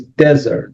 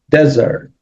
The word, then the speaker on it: desert: it's not desert, it's desert. So the stress is in the first syllable, and that means Sahara, right? That means desert.